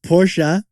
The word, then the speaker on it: Porsche: gonna pronounce it porsche are we gonna pronounce it porsha cause honestly i just alternate between the two and no one corrects me it's porsha okay but you can call it porsche if you want i've met girl's